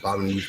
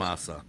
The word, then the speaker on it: Bonamassa: John Bonamusa or whatever his fucking name is, or Joe, whatever his fucking name is.